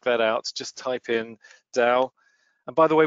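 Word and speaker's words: Tao: out just type in Dow and by the way we're calling it down with a D because of the provenance of the Chinese pronunciation but you can call it tau if you want we've heard people call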